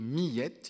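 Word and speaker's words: Miette: de pierre bergounioux intitulé millette il faut prononcer en deux syllabes qui est me semble-t-il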